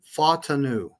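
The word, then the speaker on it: Fautanu: He actually pronounced Troy's last name in the chat. It's Fatanu, the offensive tackle that kept dropping to us.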